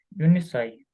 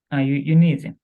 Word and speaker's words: uneasy: Unisai. Ні, як це воно читається, певно? Uneasy? Uneasy, непростий.